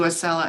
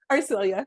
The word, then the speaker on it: Arcelia: If the panelists could kind of, maybe we can start with you, Acela, and I'm saying it wrong again. Arcelia? Arcelia, you got it.